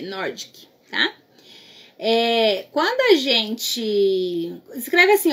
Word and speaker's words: Nordic: que se escreve pronuncia não é bavarian norte que nordic n o r d e c nordic quando a gente escreve